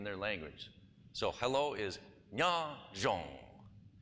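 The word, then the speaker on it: nyob: So hello is nya zhong. It's spelled N-Y-O-B, and the B is a tone marker, and the double vowel is an ong sound with no tone marker, which is flat.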